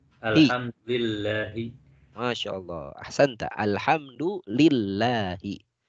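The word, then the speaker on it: الحمد لله: Hahihu lillah. Alhamdulillahi. Masya Allah. Ahsanta. Alhamdulillahi. Jadi li-nya ada di mana? Li-nya ada di depan lafaz atau kata Allah. Harusnya Allahu, karena ada li di depannya, menjadi lillahi. Alhamdulillahi.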